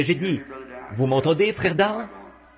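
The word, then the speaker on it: Daugh: C'est un allemand et à vrai dire son nom c'est D A U G H mais moi je le prononce simplement D.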